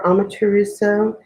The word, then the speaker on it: Amaterasu: So I'm going to be doing a longer meditation for Amaterasu.